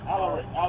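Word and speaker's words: Alari: yeah M taking identity my name a l a r i Al a l a r Al Al you pronounce it like Al all right Simmons what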